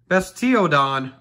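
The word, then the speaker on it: Bastiodon: well we got bestodian bestio don is the correct way to say it but we say whatever we want the bastodeon so we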